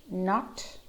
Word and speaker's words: knot: Knife, knot, knowledge, knack, knuckle, knob, net. So let's go back to that sentence. I know you knocked your knee while kneading the dough. All those letters with a silent K.